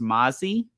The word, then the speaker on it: MMASI: Kajal had a good presence, and another like slept on brand is MMASI, which is actually kind of pronounced Mazi.